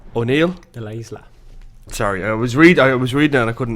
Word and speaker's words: De La Isla: On this week's Insider podcast, we're talking to de Isla O'Neill. De la Isla. Sorry, I was reading and I couldn't pronounce it properly.